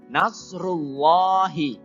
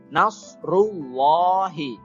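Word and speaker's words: نَصْرُ اللَّهِ: panjang jamaah kemudian selanjutnya nashrullahi huruf kode ya huruf shod beda dengan huruf Sin ya Nose itu mulutnya harus agak monyong sedikit nashrullahi disitu ada huruf alif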